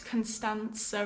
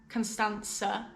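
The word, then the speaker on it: Constanța: been trying to pronounce constanza right it's really difficult for me but someone said it's the same as saying pizza sir constanca yeah i think that's it but no i've just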